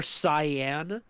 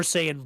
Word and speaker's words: Saiyan: years he was there, they pronounced it Super Cyan, and I'm pretty sure they only say that because the hair is blue, and it's literally just, you could just call it Super Saiyan Blue or Super Saiyan God.